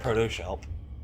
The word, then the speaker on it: Proto-Shelp: Is it Protoss Help or Proto-Shelp? Proto-Shelp. You sound confident. Because that's what they say in-game.